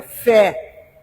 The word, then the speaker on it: fé: Hoje o nosso assunto aqui é sobre fé, que é uma palavra que é de uma sílaba só, né? Tem um acento agudo, é uma vogal aberta, fé.